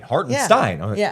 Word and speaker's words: Hartenstein: Hartenstein. Oh, on the pronunciation guys says Stein. Yeah. And a lot of people did Steen Stein. It's It's Hartstein. It's Hartenstein. So shout out to that IG content.